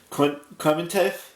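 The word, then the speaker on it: Klementieff: but her first name is pong it's k-l-e-m-e-n-t-i-e-f-f clementev I believe that's how you print it pronounce your last name I probably butchered that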